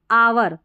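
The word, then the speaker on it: hour: फिर देखिए यहाँ आवर, क्या है, आवर, H साइलेंट है इसमें भी, आवर, घंटा।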